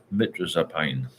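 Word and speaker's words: mirtazapine: And for those who can't get diazepam, see if the doctor may prescribe anxiety relieving medication like mitrazapine.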